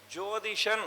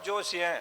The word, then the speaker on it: ஜோதிஷன்: ஜோதிஷன் அப்படிங்கிற வடமொழி சொல் சரியா உச்சரிக்காம ஜோசியன் அப்படிங்கிறாங்க.